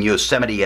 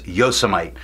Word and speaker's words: Yosemite: getting into the comments telling me I was mispronouncing Yosemite as Yosa might I just thought it